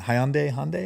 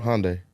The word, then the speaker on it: Hyundai: And Hyundai, is that how you say it? Hyundai. Yeah. And I'll never forget, I got my old manager, Brad.